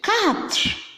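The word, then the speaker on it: quatre: 4. 4 is called what? 4. Please, it's not cash, like to cash something. No. 4. 4. Make sure the T and the R is pronounced.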